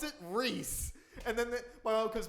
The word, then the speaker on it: Rhys: was like oh yeah it is pronounced reese i was like no